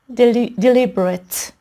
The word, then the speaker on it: deliberate: خب وقتایی که صفت هستن ما این کلمات رو ایت تلفظ نمی کنیم بلکه ات تلفظ می کنیم. اوکی؟ بذاری با قلم نشون بدم صداش رو. یه شوا تلفظ می کنیم و یه دونه ت، اینجوری ات. اوکی؟ بنابراین میشه deliberate ات یا indiscriminate.